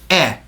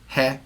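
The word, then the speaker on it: へ: her that does it it's written as he but it's pronounced e don't accidentally say he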